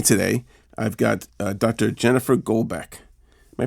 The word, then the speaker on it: Golbeck: Jennifer Golbeck. Am I pronouncing that right?